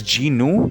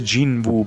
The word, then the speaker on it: Jinu: It's Jinu. I always thought it was Jinwoo, but I guess the W is silent.